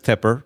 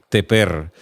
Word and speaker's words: Tépper: como se escribía sin la tilde, muchas personas en Latinoamérica lo pronunciaban como si fuera un verbo, teper, como si fuera yo tepo, tú tepes, el tepe, nosotros tepemos, lo cual por supuesto no existe, pero lo pronunciaban así.